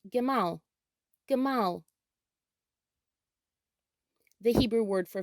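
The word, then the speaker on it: גמל: In Hebrew, camel is pronounced gemal, gemal.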